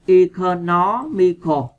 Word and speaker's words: economical: Bây giờ chúng ta sẽ qua câu số 3, economical. Các bạn nhấn vần 3 nha.